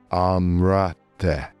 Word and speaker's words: Amzrte: The word is written as Amzrte, but what we actually hear is Amrate.